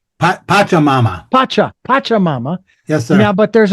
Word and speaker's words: Pachamama: Is that how that's pronounced? Pachamama. Pachamama.